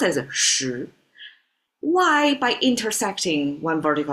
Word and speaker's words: 十: Pronounced as shí.